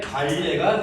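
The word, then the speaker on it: 반례: 요 자리에 발레가 들어있다. 발레는 거짓임을 보여주는 원소. 걔를 발레라고 불러. 자, 발레 쓰세요. 자, 반레라고 쓰고 읽을 때는 발레라고 읽듯이 쟤를 거짓임을 보여주는 원소.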